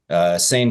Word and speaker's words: seine: but I've always heard it pronounced Seine in the fishing or the sailing circles I've been in.